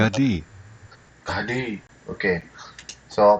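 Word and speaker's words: Gaddi: tribe of Joseph, namely the tribe of Manasseh, Galdai. You know what? I don't know how to pronounce that, so let's go take a look what the Hebrew pronunciation is. Gadi.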